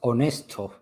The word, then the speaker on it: Onesto: Oh, it is pronounced Honesto.